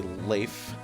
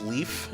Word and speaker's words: Leif: Lord of that is I choose to say life like life Erickson the you know Vikings bore but however I've come to realize that it actually is Leif is how you pronounce his name and the reason why